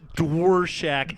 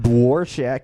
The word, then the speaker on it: Dworshak: Dworshak Hefe. Dworshak Hefe.